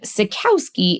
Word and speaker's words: Cycowski: the comedian harmonists and Sakowski is at least one pronunciation of his last name our resident historian